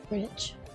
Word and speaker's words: Greenwich: Greenwich. Yeah. Greenwich Mean Time is 6 hours ahead. It's spelled weird. Green WCH. Sounds like that would be Greenwich.